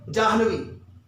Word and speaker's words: जाह्नवी: सही उच्चारण इसका करिए जाह्नवी, और निश्चित रूप से सही उच्चारण करेंगे तो सही लिखेंगे। इसमें क्या होता है? जा पूरा होता है, हा में हलंत होता है, और आगे देखिए नवी, जाह्नवी। आइए दूसरा प्रश्न देखते हैं।